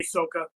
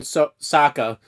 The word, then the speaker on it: Sokka: It says in the dialogue between Fuckboy and Sokka, Han pronounces Sokka's name incorrectly by elongating the O, which is the Asian pronunciation, and how it is pronounced in the film The Last Airbender, which is pretty funny